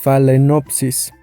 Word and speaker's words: Phalaenopsis: al inicio de este video el nombre es phalenopsis se escribe así como está en la pantalla o